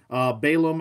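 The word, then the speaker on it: B'alam: or pronunciation throughout so I'm just gonna go with baalam I actually looked up that's kind of the English way of saying things Balaam I want to say is a little bit more I want to say more European maybe into Asia as they would pronounce Balaam but there's different pronunciation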